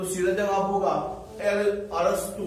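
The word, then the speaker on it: अरस्तू: लिखते तो एरिस्टोटले है, लेकिन प्रोनाउंसिएशन क्या है, अरस्तु। प्रोनाउंसिएशन क्या कहते हैं, अरस्तु कहते हैं।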